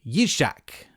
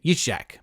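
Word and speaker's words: יצחק: who they name isaac yishak i i think is how you say it you shack something like that but we just say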